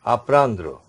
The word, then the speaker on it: apprendre: The next verb is apprendre.